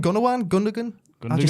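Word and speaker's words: Gündoğan: probably Gunnawan. How do you pronounce the name? Gunnawan? Gundogan?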